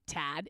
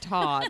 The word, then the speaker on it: Todd: Just say Tad, and I called him Tad. And I was like, hey, Tad, you see your orders up. But Tad. it's spelled with the O, so it was Todd.